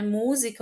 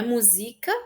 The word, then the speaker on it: música: Música, o acento mais forte é no mu. Não é música e nem musicar. É música, ok?